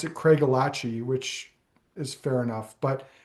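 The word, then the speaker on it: Craigellachie: The locals there pronounce it Craig Elachi, which is fair enough, but uh, for those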